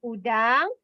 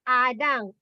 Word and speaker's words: udang: Udang. Udang. It's not adang. Udang.